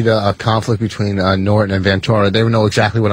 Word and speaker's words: Ventura: Ventura. Oh, he does. All right. Thank you. Yeah, he pronounces it Ventura.